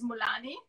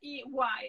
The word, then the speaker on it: Mullaney: If I pronounce it, I pronounce it in an Italian way. So it's Mulani. And if we pronounce it in the more American way, it's Mulani. It sounds better in Italian, to be honest. It's very Irish. This is a very Irish name.